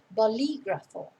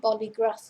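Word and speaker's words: bolígrafo: bolegrapher in spanish again notice where the accent is on the eye in the middle bolly gruffle not polygraph or and you can avoid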